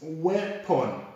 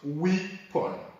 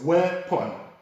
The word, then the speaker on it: weapon: And then we move on to number 5, and this word is weapon and not weapon. So it's pronounced as weapon, not weapon.